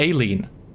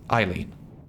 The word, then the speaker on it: Eileen: editing a bit that i pronounced that completely wrong yet again i said aileen but obviously it's eileen oh hello there there